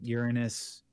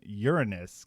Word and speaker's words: Uranus: It has a lot of it makes fun of you for pronouncing Uranus anything different because there's an alien from Uranus named a doo-doo. And so the doo-doo from Uranus. Seriously, are you in 3rd grade? Stop pronouncing the planet as your anus.